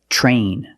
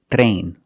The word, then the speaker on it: train: Another situation where T makes a ch sound is TR. When you have TR together in any situation, you can pronounce it ter, but usually we don't. We pronounce it ch plus the R sound, chur. Example, train, truck, tree, and travel.